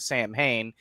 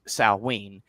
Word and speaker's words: Samhain: I know it's Samhain, so a lot of people, myself included, often pronounce it Samhain, but Celtic is a little bit weird, and technically it's pronounced Samhain.